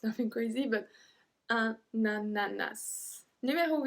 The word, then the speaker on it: ananas: Because we have to make the link between un et a, because un ends with a N and ananas start with a A, we have to say na, na, and then nananas, ananas, and then we pronounce the S as well.